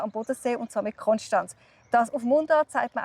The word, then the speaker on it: Konstanz: Und zwar wird es oft als Konstanz ausgesprochen. Konstanz.